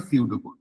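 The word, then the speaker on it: pseudo: flowchart এরপরে আসে সিউডোড সিউডো কোডের বাবা বানান এটা পিটা সাইলেন্ট থাকে সিউডো মানে আমরা প্রত্যেকে জানি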